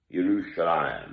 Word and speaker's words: Yerushalayim: me the holy land yerushalayim that's the proper way to say if you're jewish i'm not i'm a